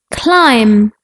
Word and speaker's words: climb: Like the letter B in bomb, climb, lamb, some. Like the letter C in muscle, scent, scissors. When we put C and H together, it sounds like ch.